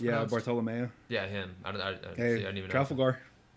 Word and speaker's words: Bartolomeo: Like I didn't know anything about Bartholomew, and like why he was so obsessed with Zoro. Oh, Bartolomeo. Is that how it's pronounced? Yeah, Bartolomeo.